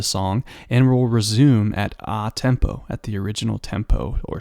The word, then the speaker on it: a tempo: It says, it looks like a tempo, but you pronounce it a tempo.